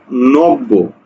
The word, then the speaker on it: নব্য: দেখো আমি লিখলাম একটা শব্দ নব্য, নব্য, এই নব্যর উচ্চারণ করতে গিয়ে আমি করছি কি এই ব দীপ্ত হবে, মানে কি বয়ের উচ্চারণ দুইবার হবে, তাহলে নো ব, নো বকারে বো, নব্য, ঠিক আছে, ওকে।